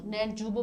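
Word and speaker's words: Neljubov: नेलजुबो बोलेंगे, भले ही वाई लिखा है लेकिन इसी तरह से प्रोनाउंसिएट करेंगे इसको।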